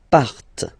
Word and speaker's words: partent: Okay, and the last persons, il, elle, partent. Remember, classic ending, ENT, but then you don't pronounce them, partent.